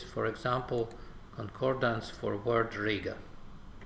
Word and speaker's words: Riga: example concordance for word Riga or rig of is with a long I and we see some